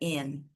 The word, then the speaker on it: aunt: Eles não costumam falar, então aí não costumam pronunciar a letra T, tá? Então a gente não tem essa pronúncia da letra T, termina no N, que no inglês é aunt, aunt.